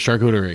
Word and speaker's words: charcuterie: There's many different ways that people like to say it. Yeah. The correct way is charcuterie.